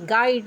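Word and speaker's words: guide: अगर जी के बाद सॉरी यू के बाद अगर यू के बाद कोई वोवेल आए तो यू साइलेंट रहता है। जैसे है जी यू आई डी ई गाइड।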